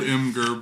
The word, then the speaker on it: Imgur: it's spelled Imgur, but then I've been wrong about something else that I won't bring up. Imgur. Well, it's like imager.